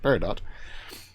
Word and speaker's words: peridot: And on the chaos, and I'll show how I do this later on, but on the chaos Peridot, no, you pronounce the T, Peridot, I put night vision.